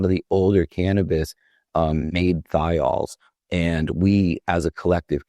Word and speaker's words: thiol: smell skunky, which is a compound called a thiol. For people listening, that's spelled THIOL.